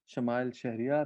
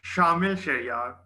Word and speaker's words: Shamil Shahriar: Our second role holder is timer Shamal Shahriar. I can see him. Can you introduce your role to the club? It's pronounced Shamil Shariar.